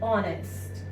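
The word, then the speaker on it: honest: यहां पर एच जो है वो ह की साउंड नहीं दे रहा है, एच क्या है यहाँ पर, साइलेंट है, और ये किसकी साउंड दे रहा है, ओ की, ऑनेस्ट, ऑनरेबल।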